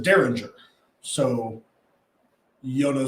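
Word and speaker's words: Dareringer: a dairy mirror so the bottle is spelled d-a-r-e-r-i-n-g-e-r which would be daryl ringer but adam from rabbit hole pronounced it derringer so yo no say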